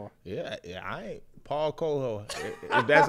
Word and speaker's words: Paulo Coelho: I ain't Paulo Coelho.